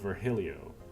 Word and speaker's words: Virgilio: they want to be he wishes to be called vergilio as a result anyways uh man